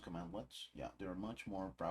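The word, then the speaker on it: cmdlet: mentioned power commands are known as command lets pronounced command lets yeah they are much more powerful than the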